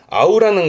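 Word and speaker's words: 合う: 발음은 아우입니다. 아우라는 건 합하는 부분이기 때문에 합쳐지는 두 개가 합쳐지는 앞에서 언급했습니다만는이 합이라는게 두 사람의 서로 간의 합.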